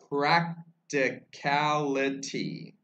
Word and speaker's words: practicality: Practicality. I'm trying to say that the last syllable a little differently in practical, practical, not practical, and then you add ity.